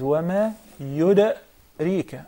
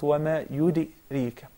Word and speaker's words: وما يدريك: It is wama yudarika, not wama yudirika. Okay, once again. Wama yudarika la'allahu yazzakka. I'm trying to imitate you. Wama yudarika la'allahu. It's towards the fatha, not the kasra.